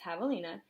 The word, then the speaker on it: javelina: Javelina, pronounced Javelina, comes from a Spanish name for the collared pecanary,